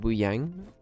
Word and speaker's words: Wuyang: Is it Wuyang?